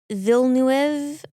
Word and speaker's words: Villeneuve: Director Denis Villeneuve Villeneuve I watched him pronounce it and he doesn't have the extra i sound. Villeneuve? Yeah, Villeneuve. You're right. Villeneuve.